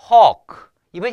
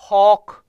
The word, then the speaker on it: hawk: 설명드릴게요 자 오와 어의 중간 발음이다 생각하면 되겠어요 오 어 어 알겠죠 어 그래서 혹 이번 약간 좀이 안이 좀 커져요 허크 혹 혹이 아니에요 허크 허크 알겠죠 오와 어의 중간 발음 좀 애매하게 발음하시면 돼요 크 자 그리고 요거는 길게